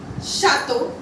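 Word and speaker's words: château: Here as you can see, CH is together, so we are going to sound it like sh, that is chaise. Chateau, chateau, chante, chante, chapeau, chapeau.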